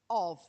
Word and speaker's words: of: Of. Two ways of pronouncing of, aren't there? Of and of, yes. So we have two ways there, but again, it's a v sound and not a f sound.